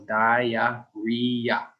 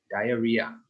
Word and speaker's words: diarrhea: So it is 4 syllables, diarrhea, diarrhea.